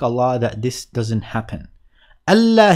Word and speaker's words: ألا: ألا here was essentially أن لا. But when you pronounce them together, they sound like ألا.